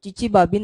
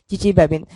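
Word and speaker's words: Chichibabin: Now finally we will discuss another important and characteristic reaction of pyridine molecule called as Chichi-Babin reaction.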